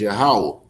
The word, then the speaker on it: Yahweh: We know that the right way to pronounce it is Yahweh.